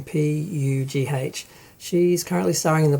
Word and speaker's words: Pugh: Florence Poe, I do not know how to pronounce her name, Pugh.